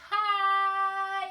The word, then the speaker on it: high: But if we're talking about something high up, we need to add a G and an H. They're silent. Hi.